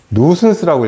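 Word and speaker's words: nuisance: 세 번째는요, 이거 재밌어요. 누슨스라고 읽어요.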